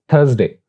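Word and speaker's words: Thursday: Next is थर्सडे, यानी S scene की आवाज यहां पे प्रोनाउंस करते हैं, लेकिन यहां पर एस असल में जे की आवाज दे रहा है, इट्स थर्सडे, थर्सडे।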